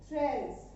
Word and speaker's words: treize: 13 treize. 13 in French treize. 14 quatorze. 14 quatorze. Focus on pronunciation is very must.